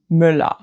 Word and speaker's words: Müller: An example is Mühe, Mühe. Compare that to Müller, Müller. So Mühe ends in Ü, and Müller, Müller ends in L.